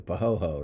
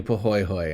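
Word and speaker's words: pahoehoe: Well, before I pronounce this one, how would you say this? Yeah, exactly. Pahoho, right?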